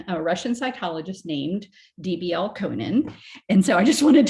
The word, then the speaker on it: Elkonin: And so I just wanted to make sure that you know this is a person, Elkonin. It's not Elkonian boxes or Elkonin. I've seen it spelled and pronounced in so many different ways.